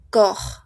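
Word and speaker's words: corps: Entonces, hemos terminado esta parte le olviden que para decir cuerpo no pronunciamos la ps cor.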